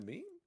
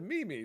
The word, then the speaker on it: meme: goes, "Girl, do you mean a meme?" And she's like, "Yeah, the Mimi." She goes, "Girl, that's not how it's said."